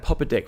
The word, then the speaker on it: Popadic: Popadic, yes. Popadic, get that pronunciation right. Popadic.